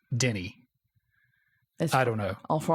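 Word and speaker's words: Denis: it different V yeah everybody seems to agree though that his first name which is clearly spelled Dennis is Denny I don't know all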